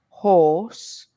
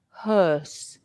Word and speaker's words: hearse: similar no no um look at my my lips Maria horse can you see that for the old are horse my my lips are round horse and H my lips are more Square can you see that hearse and for horse my lips are pointed horse and they're rounded but hearse they are a bit more Square now the uh sound